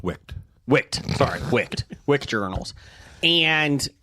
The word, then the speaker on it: Wicked: he's selling Wicket journals, and my daughter loves the movie Wicket. I believe it's pronounced Wicked.